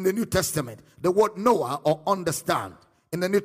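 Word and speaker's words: νοέω: N-O-E-O, noa. Let's see how it was used in the New Testament. The word noa or understand in the New Testament books.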